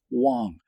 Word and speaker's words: Wang: It goes right down to their name, and I know it reads Wang and I've even heard Jade Chang refer to it as Wang but it is in fact Wong - subverted by a